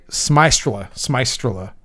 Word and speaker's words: Smystrela: Yeah, it's Smystrela. Yeah, because she said it's like kind of like maestro, like Smystrel.